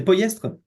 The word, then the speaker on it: Pollestres: On prononce poestre. Ouais. Ouais, c'est poyestre.